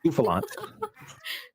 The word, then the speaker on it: Bouffalant: Buafalant? Bofalant? Bouffalant.